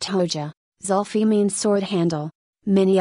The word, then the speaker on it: Hoxha: Abu Hamza al-Amriki's real name is Zulfi Hoxha, pronounced Hoja.